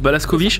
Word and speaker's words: Blazkowicz: Ça se prononce Blazkowicz.